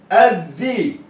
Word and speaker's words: الذي: الذي نطق الاء مفتوح. احنا قلنا دايما الاء مفتوحه، الاء مفتوحه لكن ما نطقش بعدها لام ساكنه، ده نطق بعدها حرف مكرر مرتين، مكرر مرتين اللي هو ايه؟ الذي.